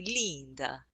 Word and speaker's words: Leenda: It's spelled Leenda, like Linda, but only the way my grandma Lee. used to say it. My Italian grandma used to say Linda, Linda.